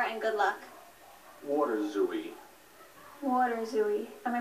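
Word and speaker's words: waterzooi: it so far and good luck water zooie water zooie am I pronouncing it correctly yes water zooie w a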